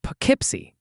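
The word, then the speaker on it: Poughkeepsie: You mean Pipsy. That's how you say it.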